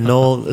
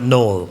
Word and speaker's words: knoll: No, it's actually a knoll, spelt with a K, like knife, but knoll.